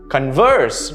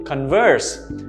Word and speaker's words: converse: to have a conversation converse notice the stress on the second syllable converse but if it is